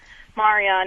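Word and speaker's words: Maryam: believe in Mary like my name is actually Marian it's just the Arabic pronunciation of Maria so obviously there's a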